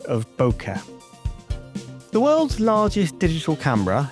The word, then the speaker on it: bokeh: Mike Johnston, the editor at the time, was getting increasingly frustrated that English-speaking people were incorrectly pronouncing it boke, like joke.